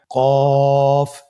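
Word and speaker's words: قاف: কফ উচ্চারণের ক্ষেত্রে একটু মোটা করে উচ্চারণ করতে হবে।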